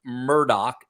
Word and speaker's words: Murdaugh: And by the way, why do people call him Alec Murdock if his name is spelled Alex Murdaugh? I've been having a lot of questions about that. Is that a Southern thing, or is that just a Murdaugh thing? It's actually a Scottish thing, right?